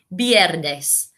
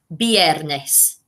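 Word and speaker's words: viernes: that association as well you say it friday biernes so have a look which roman goddess can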